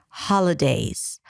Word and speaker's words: holidays: So first, it's the first syllable, ha, even though it's spelled with an O.